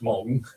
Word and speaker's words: Meng: But as I was saying, there are, you talked about, like Bryan says, there's, as he called it, Meng, it's actually pronounced Mong.